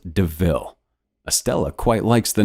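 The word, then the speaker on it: De Ville: a panther deville and points out the similarity to the word devil though it's pronounced deville estella quite likes the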